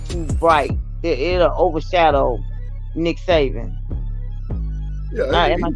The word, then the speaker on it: Saban: It'll overshadow Nick Saban.